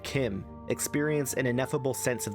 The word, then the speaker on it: Chim: By the way, I'm pronouncing it Kim because that's how Kirkbride said it was pronounced, and the way Lehman Tuttle said it was pronounced, Chim, as in chimpanzee, sounds worse to my ears.